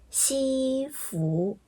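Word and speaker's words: 西服: 第一个呢是西服，分别是一声、二声，西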